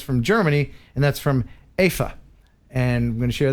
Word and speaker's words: Eva: It's spelled EVA, but Americanized it's Eva, but it's Afa.